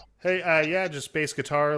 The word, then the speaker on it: BASEGITAR: Uh, yeah, just bass guitar. Like it's spelled there. Bass like baseball guitar.